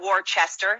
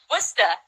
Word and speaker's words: Worcester: house outside of Boston you're in a war Chester is that correct did I say that right yes said it wrong I'm not surprised how do you say where are you guys out of Worcester what Worcester whatever I mean it's those